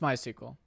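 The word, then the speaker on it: MySQL: it have to be postgresql how do you pronounce this post postgresql oh it supports my sequel most people just say postgres but this is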